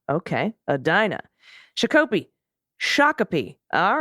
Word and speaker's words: Shakopee: Wayzata Adina is a Dinah okay Adina Chicopee Shakopee all right oh good to know and why